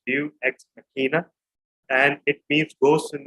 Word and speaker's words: Deus Ex Machina: And finally, the title is pronounced Deus Ex Machina, and it means ghost in the machine.